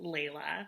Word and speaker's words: Layla: It's pronounced Layla.